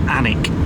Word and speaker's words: Alnwick: And as you can see, it's spelled Alnwick, but it's actually pronounced Alnwick. Unless we're completely wrong, but that's what we've been listening to people, haven't we? And the L and the N are not pronounced. Yeah. So it's like Alnwick. On that suit and wore